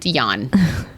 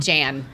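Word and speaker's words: Jann: Except his name is pronounced Jan. It's not Jan.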